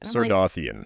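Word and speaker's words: Sardothien: She also goes by, I don't know how to pronounce it, Sarcophagan? Well, that's her last name. Yeah, something with her last name. Sardothian.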